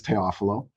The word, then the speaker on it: Teofilo: My last name is the proper pronunciation is Teofilo, Okay. which is kind of like Theophilus and biblically, Yeah.